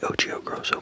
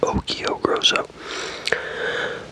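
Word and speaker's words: Occhio Grosso: I say O'Chio Grosso, but it's pronounced O'Kio Grosso.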